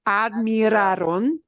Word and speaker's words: admiraron: Make sure you say all your syllables, okay? Admiraron.